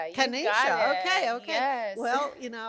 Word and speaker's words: Kennisha: Kenisha. Kenisha.